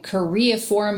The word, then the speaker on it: choreiform: So, as common with Huntington's, the patient was having choreiform movements, which are like these like jerky, erratic movements that almost look kind of like dancing.